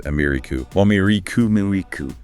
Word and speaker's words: America: So the first a reduces a and the final a also reduces amiricu.